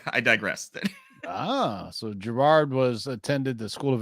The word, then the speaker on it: Gerard: uh well I'm GNA go with uh people pronouncing it Gerard Way It Is Gerard you killing me so Jared yeah Geral Gerard ask me guys I I